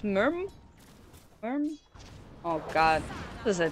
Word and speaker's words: MYRM: to come in for someone corrected me again so it is pronounced Merm oh God this is